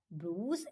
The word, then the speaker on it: bruise: Bruise are an injury on the surface of the skin. Bruise क्या होते हैं? What are bruise? We pronounce it bruise. B-R-O-O-Z, bruise.